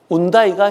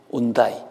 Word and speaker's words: 현대: 스페인어는 H 발음을 거의 안 합니다.